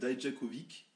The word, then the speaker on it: Dijakovic: Et puis l'autre dont je ne peux pas prononcer le nom, Djakovic. Dijakovic. Eux ils disent Dijakovic.